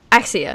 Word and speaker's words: Axia: Axia, yeah.